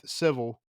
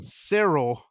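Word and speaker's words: Syril: We've already kind of been over that and kind of his role with Civil or Sel. God, I did it again. Sirill.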